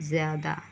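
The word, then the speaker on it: ज़्यादा: Lepus बन जाएगा घ ज्यादा और जब हम नुक्ता लगाएंगे तो क्या बनेगा यहां पर ज्यादा अना सफेद और जब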